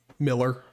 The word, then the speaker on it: Mueller: Mueller, yep, or Miller. Again, it's spelt Mueller, but it's Miller, how you're supposed to say it.